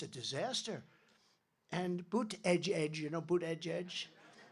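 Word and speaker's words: Buttigieg: our airports and the it's a disaster and boot Edge Edge you know boot Edge Edge you know years ago I said how do you pronounce that damn name and they said boot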